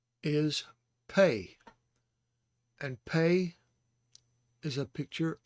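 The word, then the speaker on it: פא: And you see Pei has a sere underneath it, and this is followed by an aleph, which has no sound of its own. So it's pronounced Pei. Pei.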